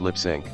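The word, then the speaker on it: Lipps Inc.: band behind F town is not pronounced lips Incorporated it is pronounced lip sync Ponies are not baby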